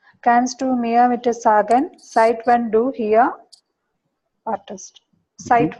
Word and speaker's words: seit: Kannst du mir bitte sagen, seit wann du hier wartest? Seit wann? Why it's coming seit? Seit is Together? because we have E makes I, and one S plus vocal is pronounced Z.